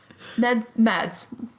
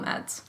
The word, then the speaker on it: Mads: Mads, call him Mads.